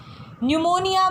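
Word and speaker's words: pneumonia: अ अच्छा ठीक है न्यूमोनिया बोलते हैं इसको पिस साइलेंट होता है ठीक है हम इसको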